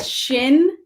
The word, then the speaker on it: Shinyei: So to pronounce my last name, I just go like this. Shinyei. Shinyei. Shinyei. Shinyei. What is that? What nationality is it? It's Japanese.